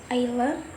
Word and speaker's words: island: For example, in words like island or Iceland, where the letter S is not pronunciation, even though it is written in the word.